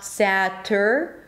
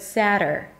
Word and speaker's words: Saturday: The first one is sa, sa. That's also the primary syllable, so it's going to be longer and higher in pitch. Sadder, flap T and a schwa. Sadder, not satter, but sadder, sadder. And then day at the end, Saturday.